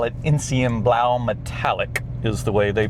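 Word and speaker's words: Enzianblau: I love the gentian blue interior pack, or as I was taught in Germany, they call it Insienblau Metallic is the way they pronounce the color, Insienblau Metallic.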